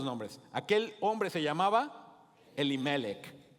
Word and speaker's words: Elimelec: hombre se llamaba elimelec Ahora cuando lo leas eh Ponle un acento en la penúltima e vamos a decirlo elimelec crees que lo podemos decir así elimelec okay ahorita te voy